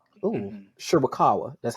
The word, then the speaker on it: Shirakawa: And you also have Tony Storm, Mariah May, and Mariah's tag team partner from Stardom, Mina Shawakawa. Ooh, Mhm. Shirakawa.